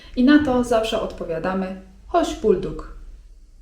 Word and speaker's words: hoş bulduk: I na to zawsze odpowiadamy: hoş bulduk (czyt. hosz bulduk) Dosłownie tłumacząc 'hoş geldin' oznacza: wspaniale, że przyszedłeś/przyszłaś.